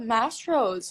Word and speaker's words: Mastro's: Oh my god, Mastros. Is that how you say it? Mastros?